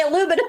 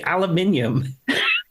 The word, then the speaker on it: aluminium: that would work cuz you don't say aluminum why we do no we we say aluminium I've never heard you